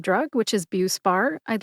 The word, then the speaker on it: Buspar: The brand name is BUE-spar. BUE-spar has 2 syllables. Bu like beautiful and spar like Spartacus. Spartacus was a 1960s gladiator film starring Kirk Douglas. Spar. Put both syllables together and you get BUE-spar. Which syllable do you emphasize? That is a good question. I have been in pharmacy for a number of years, more than 20, and I tend to emphasize BUE.